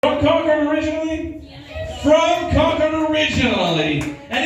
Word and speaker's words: Concord: is San Francisco from Concord? I'm like, Concord, that's not how we pronounce it. We're not that sophisticated, okay? Right? Say it like you've done meth at least a few times. Concord!